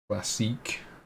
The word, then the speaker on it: Classique: classique like that french pronunciation um what the hell